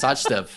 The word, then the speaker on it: Sachdev: Literally, I've never seen a CH pronounce such. I didn't know I was supposed to say Sachdev.